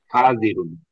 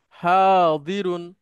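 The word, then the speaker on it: حاضرون: হাজিরুন। Good. হাদিরুন, মূলত শব্দটা হচ্ছে হাদির, দদ। তো আমাদের এই দেশে হাজিরুন। দদটা এসে বর্গীয় জ বর্গীয় জ উচ্চারণ পড়বে।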